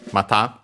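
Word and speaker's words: また: meaning, with this reading, mata, and actually as a kanji of its own, it has the meanings again. Should be unaccented, sorry.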